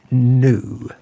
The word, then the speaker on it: gnu: this about the new it is pronounced new gnu new a year ago